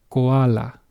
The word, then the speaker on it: koala: The only thing is different is how you pronounce the vowels. Hopefully, you're starting to notice why I kept hammering on the fact the vowels control the bulk of your pronunciation. Okay, in Spanish, this will be read as koala. Koala.